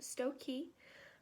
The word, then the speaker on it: Stokoe: My last name looks a little weird, but it's pronounced Stokoe.